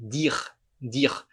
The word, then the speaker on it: dire: Da mesma forma, dire. Terminou em E, a gente omite esse E na hora de falar e simplesmente fala a consoante que vier antes.